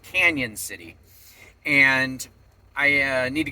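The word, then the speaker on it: Cañon City: So, but anyway, today I am actually after dropping Aiden off at Kora's house, I am heading into it's spelled Canon City, but apparently it's pronounced Canyon City.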